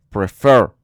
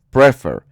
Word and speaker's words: prefer: Bueno, pues en este caso sí, porque la sílaba tónica, la sílaba fuerte, está al final, porque es prefer, no es prefer.